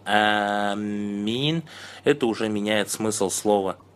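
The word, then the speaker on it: آمين: То, что наилучший вид произношения – это первый. Протягивая первый звук и не удваивая мим.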